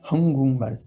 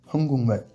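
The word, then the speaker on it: 한국말: C'est Hangukmal, Hangukmal. Donc là, on a quoi? On a tout simplement le G devant le M, donc qui se transforme en NG.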